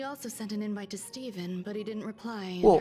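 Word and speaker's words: Stephen: but growing up I'd always have read that as stepen and I knew a guy growing up that pronounced his name as Steven and it was spelled like that that's crazy H and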